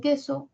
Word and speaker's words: queso: y a y en queso cuál serían los núcleos sílabas que so Cuál es el núcleo en la primera sílaba que la e la u no suena eh la u no